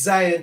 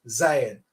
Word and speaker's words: Zion: T-S is that Z sound. That's why you get Zaire. The T-S is the Z, right? So T-S-I-J-O-N is the word that they're trying to pronounce here, which is Zion, a mountain of Jerusalem.